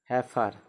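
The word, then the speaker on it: heifer: ठीक, एच ए आई एफ ई आर, हैफर मतलब कलीर।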